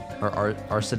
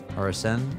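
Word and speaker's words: Arsène: I hate that Arsene's like the, Arsene, is that how you say it? Arsene? No, it's Arsene.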